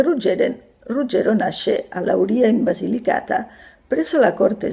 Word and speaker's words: Lauria: esisteva un ruggero di lauria io pronunciavo di laurea che altro non era